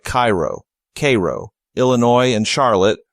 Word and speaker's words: Cairo: must always be correct especially tricky are homegrown pronunciations like Cairo Cairo Illinois and Charlotte Charlotte Michigan whenever in doubt